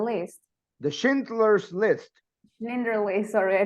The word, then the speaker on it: Schindler's: I haven't seen in the movie, but I think it's the Schneider List. The Schindler's List. Schindler List, sorry, I don't know Yes, how to the pronounce Schindler's that.